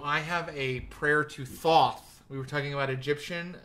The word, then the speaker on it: Thoth: Is that thought without a T? Maybe I'm pronouncing it wrong. It's Thoth is the way they say this god.